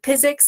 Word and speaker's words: PyZX: the ZX calculus called pyzx or physics is how it's pronounced um uh and um